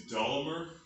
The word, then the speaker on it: Dollamur: about my max my i think the pronunciation is dolomer d-a-d-o off to the